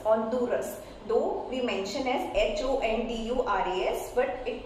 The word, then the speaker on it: Honduras: Though we mention as Honduras, but it pronounces Honduras. H will be silent in that particular case.